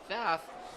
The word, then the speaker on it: Pfaff: It's because we've heard 2 different pronunciations. So I will defer to the student who knows him. You call him Pfaff?